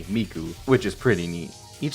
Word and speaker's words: Miku: But apparently it's a reference to an old pun where the Japanese words for 3 and 9 can be pronounced as mi and ku respectively, miku, which is pretty neat.